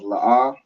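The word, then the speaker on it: לא: see here we have la'ah, which is, do you know what la'ah means? No. No? Correct. La'ah means no. So the 2 characters we have are la and ah, and they're both pronounced separately.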